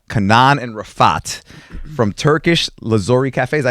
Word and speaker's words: Lazuri: And and in here we got uh Kanan and Rafat from Turkish Lazori Caf. Is that how you pronounce it?